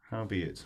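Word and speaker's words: howbeit: of the thing okay it claims to rhyme with albeit how be it all be it yes i'm not convinced yeah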